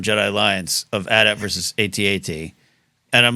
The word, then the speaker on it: AT-AT: to be someone's Insight joke on how we pronounce at at because I know oh we're supposed to pronounce it A8 someone's like no we're not I know that's what that's what they told I think that's what somebody at Lucas fil told me how I was supposed to pronounce it I still say at at and here we finally